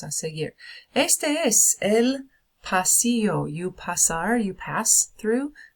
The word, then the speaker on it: pasillo: Este es el pasillo. You pasar, you pass through the hallway. El pasillo, repitan. It's got the ending, the double L, makes the y sound, so el pasillo, el pasillo.